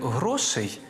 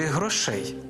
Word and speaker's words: грошей: почнемо із наголосу носі як правильно сказати бракує грошей чи грошей правильний варіант з наголосом на першому складі бракує грошей або ось